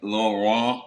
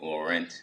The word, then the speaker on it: Laurent: Well, my name is Laurent. In English, some people pronounce it Laurent.